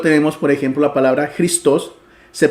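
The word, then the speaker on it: Χριστός: por ejemplo la palabra cristos se pronuncia cristos con el énfasis en la o y no cristos como sería en español que haciéndole el énfasis en la i Así que afectaba un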